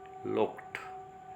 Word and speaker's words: looked: हम अक्सर हमारे जीआरपी में ट्रेडिशनल पैटर्न में इसको लुक्ड बोलते हैं, जो कि बिल्कुल रॉन्ग है. ब्रिटिश रिसीव्ड प्रोनाउंसिएशन के अकॉर्डिंग यह साउंड कैसे निकलेगी, इसको बोला जाएगा लुक्ड. ईडी साउंड ट साउंड में ट्रांसफॉर्म हो जाएगी.